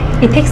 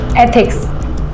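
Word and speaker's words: ethics: इथिक्स नहीं, एथिक्स ऐसे pronounce करो।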